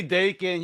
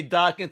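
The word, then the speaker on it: Daken: it right you know i say dakin you say dark and tomato tomato that's cool right right yeah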